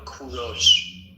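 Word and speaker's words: کوروش: English people call him Cyrus but in Persian we call him Kuros. In Persian it is pronounced Kuro but in English you call them call him Cyrus.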